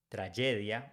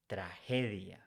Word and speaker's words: tragedia: In Spanish, when it's followed by E, G is pronounced like H in English. So we don't say tragedia, we say tragedia.